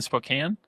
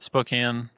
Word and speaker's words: Spokane: And he's up in Spokane. Yeah, Spokane. I've never known how to say it. Spoke Spokan. Spokan. Spokane.